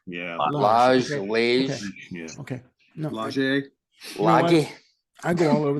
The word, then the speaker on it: Lage: Lage.